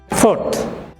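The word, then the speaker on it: fourth: ফোর্থ, এখানে আর এর পরে কনসোনেন্ট টি, কাজে এখানে আরটা উচ্চারণ হবে না।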